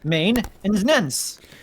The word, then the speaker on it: maintenance: says y'all don't say maintenance as three syllables no it's two syllables main and nens all right no more